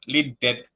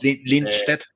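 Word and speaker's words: Lindstedt: Y pensaba en el último punto, realmente no recordaba la victoria del potro ante Robert Linted, si eh me perdonarán los hermanos suecos por la pronunciación, pero es Linste, pero estamos bien.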